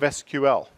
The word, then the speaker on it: SQL: English query and language thus the stupid pronunciation that a lot of people insist on saying calling it sequel instead of SQL IBM got sued there